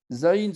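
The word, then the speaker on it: זין: Zayin se prononce entre les dents.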